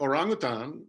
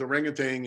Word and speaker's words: orangutan: around the world like orangutan which is orangutan in english but it's pretty close literally that means man